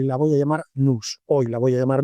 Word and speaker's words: Nous: familia de modelos de Nous Research. Digo Nous, que suena un poco raro, se escribe N-O-U-S. Nunca he sabido si esta empresa quiere que se llame Nous, Nous o Nou, como nosotros en francés.